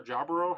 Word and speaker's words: Jaburo: map i feel it's jaburo personally is uh or jabro however you want to pronounce it i really hope